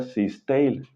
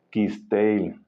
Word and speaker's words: Cisteil: es un nombre maya, no se pronuncia Cisteil, sino que se pronuncia con K de kilo. Quisteil, es Quisteil.